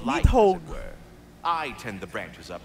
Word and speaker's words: Nidhogg: It's Nidhogg. She's also a vital piece of the Yggdrasil. That's how you pronounce it, Nidhogg.